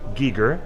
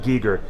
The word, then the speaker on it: Giger: HR Giger yes it is pronounced it is pronounced Giger Giger it is not maybe in a bastardized